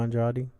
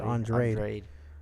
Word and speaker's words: Andrade: They said DAZN wants him to fight Bubu Andrade. Andrade. There you go. Oh, man. How do you say that? I don't know. I don't know about that name. Bubu Andrade?